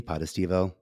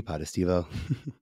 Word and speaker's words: Potestivo: level two Super Mario I like to say it goes podestivo podestivo oh it does yes